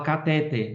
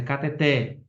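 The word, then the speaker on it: cateter: Muita gente fala catéter, mas é cateté, né?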